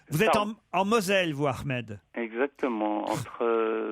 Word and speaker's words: Ahmed: Alors, est-ce que je l'ai bien prononcé, Ahmed? Oui, c'est ça. On dit Ahmed ou Ahmed. Ou Ahmed.